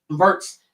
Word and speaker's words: Wirtz: Wirtz, how do you pronounce his last name? Wirtz.